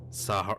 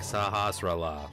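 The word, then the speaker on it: Sahasrahla: am indeed saucer Allah I never knew how to pronounce that grown up it was always like saw her saw her Salwa or something I don't even honestly remember hi pronounce it but it was like it wasn't even close and then like excellent like as I got older I looked at him like saha sarala like that makes sense to me the village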